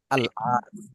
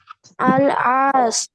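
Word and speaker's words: العاص: আমর ইবনে আল আস আল আস মানে হচ্ছে আশ আর কি সেটা হচ্ছে আইন দিয়ে উচ্চারণ আরবিতে আইন দিয়ে ঠিক আছে শুরুতে হচ্ছে আলিফ লাম আল এরপরে আইন আলিফ সদ আশ তাহলে কি হবে আব্দুল্লাহ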